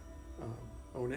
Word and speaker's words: Ona: So I got Ona and Flea, or I keep getting your name wrong, Aura. That's okay. It's Ona. You're right the first time.